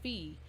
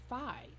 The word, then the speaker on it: Phi: she kept saying Alpha fee first of all I've never heard it pronounced that way in the Greek alphabet it is fi Phi is fi so first of all